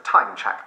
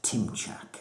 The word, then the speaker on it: Timchak: Timechak, please? It's pronounced Timchak, actually.